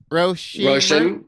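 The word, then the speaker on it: Róisín: Roshin? Roshan.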